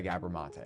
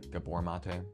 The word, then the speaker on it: Gabor Maté: Well, it's this Scattered Minds by Gabber Mate. I think I'm pronouncing it correctly. Gabbor Mate.